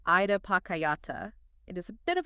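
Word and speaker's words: idappaccayatā: We are unpacking a concept called Ida Pakayata. It is a bit of a mouthful. Pronounced Ida Pachayata.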